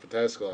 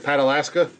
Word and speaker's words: Pataskala: It was so fucking cute what she called Pataskala. I loved it. But I said Patalaska because we call Pataskala Patalaska Out of Alaska. because that's how it looks like it's spelled.